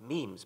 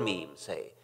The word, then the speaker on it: memes: the French word me it should be pronounced to rhyme with cream just as genes are selected for their Mutual compatibility so in principle might memes be the large literature